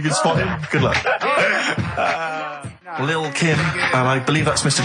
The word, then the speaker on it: Lil' Kim: Now, Steve, I see there, it's a track by Lil' Kim, but how are you pronouncing it? I'm pronouncing that correctly, Lil' Kim. Oh, no T's involved.